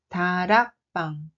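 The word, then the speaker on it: 다락방: Le premier mot est tarapang. Tarapang. Tarapang. C'est un grenier. La prononciation réelle est tarapang.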